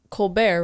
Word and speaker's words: Colbert: Well, Stephen Colbert, right? That's how you pronounce his name.